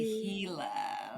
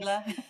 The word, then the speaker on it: Gila: And it was the Gila.